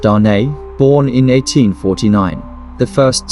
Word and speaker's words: Dane: where they SED their first three children Dane pronounced Dar born in 1849 the first son and two